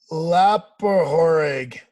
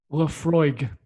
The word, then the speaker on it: Laphroaig: matt very nice let's see if you can pronounce it i noticed there's no uh ice in there uh lapper horrig try again lapa horig is that your answer